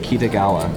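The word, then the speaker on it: Kitagawa: my last name is my last name is pronounced kitigawa but you can just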